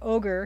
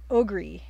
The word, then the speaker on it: ogre: and even he pronounced when he first saw the word ogre he thought it was pronounced ogri and and so if terry